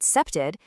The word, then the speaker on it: CPTED: So CP T A and you pronounce it septed.